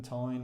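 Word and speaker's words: Tein: Now, from driving Matt's, I think it's pronounced Tine, I mentioned it in the review on his one.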